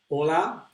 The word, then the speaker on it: hola: hola Graces hola Cedric remember that we don't pronounce the eight but we have to write the H so even if you hear hola without AIDS please write the age this list that's it